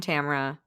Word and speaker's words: Tamara: Rhymes with camera, new friend Tamara.